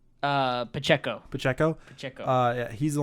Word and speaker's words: Pacheco: so I mean how do you say Isaiah pachico uh Pacheco Pacheco Pacheco uh he's the only highlight on